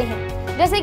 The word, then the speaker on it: hedge: इकट्ठे आने की, तो तब हम D को प्रोनाउंस नहीं करते हैं। जैसे कि मैं बोलूँ प्लेज, तो यहाँ पे PLEDGE